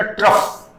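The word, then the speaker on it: trough: ट्रफ। थोड़ा pronunciation देखना।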